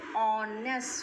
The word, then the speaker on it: honest: Now if you think honest, h is a consonant, but here the sound of h is silent, and we are hiding the sound of o, honest.